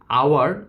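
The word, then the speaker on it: hour: কিন্তু আওয়ার আমার উচ্চারণটা ভাওয়েলের মতন আসছে।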